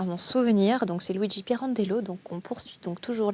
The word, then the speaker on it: Pirandello: Piron Piran d'log j'ai toujours du mal à prononcer son nom plutôt à mon à mon souvenir donc c'est Luigi Pirandello donc on poursuit donc toujours la lecture de